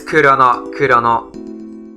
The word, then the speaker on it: Chrono: kid well that's it it is chrono it is supposed to be chrono they couldn't fit six characters it's supposed to be chrono chrono chrono chrono yeah it's kurono yeah we've all